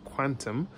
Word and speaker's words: Qtum: So it's actually pronounced Quantum, and it's a proof of stake smart contract open source blockchain platform and value transfer protocol.